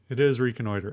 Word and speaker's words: reconnoiter: I want to say reconnoiter, but I think it's... is it French? Hold on. Let me... Yeah, I'm doing this. Let's see what Google says. Reconnoiter. Reconnoiter. All right. What's the language of origin? It is from French. It's from Latin and then from French. But that's a very American pronunciation.